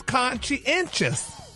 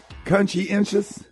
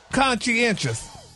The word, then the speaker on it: conscientious: the listeners anyway this week's word y'all is conscientious Ricky consciencious consciencious damnn it that's how we say the